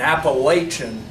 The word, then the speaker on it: Appalachian: I'm going to take care of all these people in Appalachian, Kentucky. Okay? That's how you pronounce it, Nathan Little.